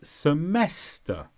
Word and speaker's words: semester: semester it's a noun the stress is on mess semester and this is one